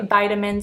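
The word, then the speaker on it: vitamins: they say lezz-ure and we say v-I-tamins and they say vit-A-mins Now let’s talk about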